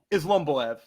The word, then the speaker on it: Islomboev: Am I saying it right? Islomboev? Islomboev, yeah.